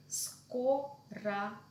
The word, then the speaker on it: скорого: In some words, when we see the letter G in the end of the word before the vowel or, it will be pronounced as V. Skorava.